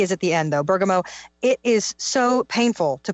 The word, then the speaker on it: bergamot: Bergamot, it's spelled Bergmot, I think. T is at the end, though. Bergamot.